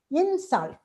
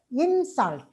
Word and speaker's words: insult: And the stress shift, say insult on in, and you pronounce it as insult when it is a noun. But as a verb, we pronounce it as insult, insult. And conduct as a noun. As a verb, it is conduct. Stress moves from the first call to that. Object is a noun, but object.